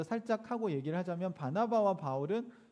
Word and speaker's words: 바울: 그러니까 사울은 히브리식, 유대식 발음이고요. 바울은 헬라식 발음이에요. 그러니까 영어로는 폴이죠.